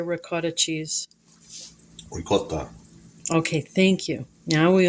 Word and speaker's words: ricotta: Ricotta.